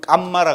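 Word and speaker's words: kamma: 그리고 이제 산스크리트는 까르마인데, 이제 우리 팔리에서는 깜마라 그럽니다.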